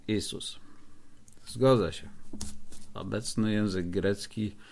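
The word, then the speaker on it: Ιησούς: naszego Zbawiciela grecki Jezus W chwili obecnej prawidłowo wymawia się isus zgodzę się obecny język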